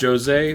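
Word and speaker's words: José: I know it's pronounced Jose, but like, come on.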